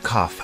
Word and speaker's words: cough: you have a cough the word cough has an unusual pronunciation instead of a g sound we have an F sound here do you have a